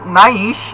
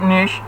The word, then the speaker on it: Nish: So I'm going to leave a link to the discussion that I had with Nish, or Naish, as I want to pronounce it, but it's no, her name's she pronounces it Nish.